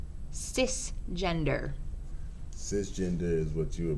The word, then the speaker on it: cisgender: time is up Sir cisgender is describes a person whose gender identity matches the sex male or female originally identified on their birth certificate cisgender which is pronounced CIS gender describes only a person's